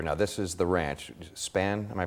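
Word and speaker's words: Spahn: Span, am I pronouncing it? Spawn Ranch.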